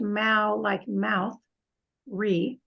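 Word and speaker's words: Māori: listen to my pronunciation Maori pronounced Mao like mouth re Maori are the indigenous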